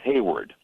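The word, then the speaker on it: Heyward: it, for example, Jason Hayward, now he played for the Cardinals and now, of course, for the Cubs. Now, his name is spelled H-E-Y, but on my scorebook, it's H-A-Y, because I want to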